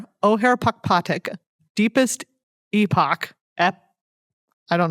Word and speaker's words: Ojer: I did learn about saying it is O'Hare. O'Hare Pakpatik.